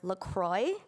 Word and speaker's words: LaCroix: the flavored sparkling water Lacroix which has the same spelling but because it's from Wisconsin the brand insists that it's pronounced Lacroix so that it rhymes with enjoy there are countless articles